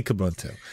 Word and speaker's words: Kubuntu: Is that how you pronounce it, or is it like Zeus or something? No. You never know. It's totally Kubuntu.